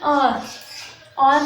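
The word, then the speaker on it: hour: अब इसको हम प्रोनाउंस करते हैं और मतलब अब यहाँ पर एच जो है वो साइलेंट है और ओ की आवाज़ आ रही है और क्या है, ओ जो है एक वॉवल है, तो इसलिए हम यहाँ पर एन इस्तेमाल करेंगे।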